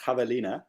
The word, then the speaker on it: javelina: um one of uh parallel parking says it's pronounced javelina but cool like i was i was imagining